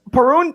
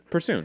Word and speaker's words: Persoon: Perun, I always say her name wrong. How do you say Persoon. There's an S. Persoon.